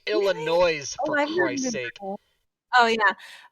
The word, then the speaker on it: Illinois: Robin by the way do not say Illinois they don't like it yeah they don't like it and I was like what yeah it's Illinois I guess which is weird